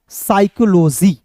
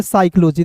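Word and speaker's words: psychology: हैं लेकिन देखिए समझिए पी साइलेंट होगा एस का स यहां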